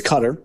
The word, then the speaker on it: Qatar: So, along comes Qatar or Getter or whatever. How'd you pronounce it? It's Cutter. Cutter.